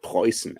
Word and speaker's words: Preußen: Dortmund that is called Preußen. It's spelled differently than Prussia, but it sounds the same Prussia.